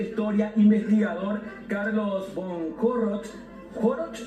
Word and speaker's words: Horoch: Y también está con nosotros el profesor de historia, investigador Carlos von Corroch, ¿Joroch o Joroch? ¿Cómo se pronuncia? Joroch. Joroch, sí.